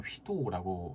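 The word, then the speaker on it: Guido: 이 파이썬을 창시한 사람, 창시자 이름이 귀도 반 로섬이라는 네덜란드 사람인데요. 네덜란드식 발음으로 하면 휘도라고 하기도 한다네요.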